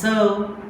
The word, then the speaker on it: serve: How it is called as serve? We are producing this sound as serve based on this phonetic transcription. Serve. See here, serve. R is silent. Why R is silent? Not given in phonetic symbols.